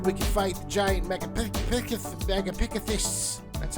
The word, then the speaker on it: Megapithecus: Just gotta get 2 more, then we can fight the giant Megapithecus.